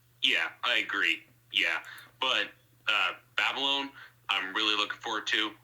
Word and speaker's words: Babylon: Yes, a new Jamie Chazelle film is coming out called Baby Loan that I'm really looking forward to. Yeah, Babylon. Yes. The new Damien Chazelle movie. Oh my. That's how it's pronounced.